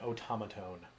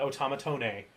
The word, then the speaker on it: automaton: good eye aaron jackson that is indeed an automaton and it's not automatone right it ends with the not the name even though in in the roman letters it's spelled with an e at the end oh yeah now did